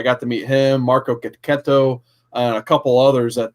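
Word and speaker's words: Checchetto: You got to say it like the Sopranos, like gabagool.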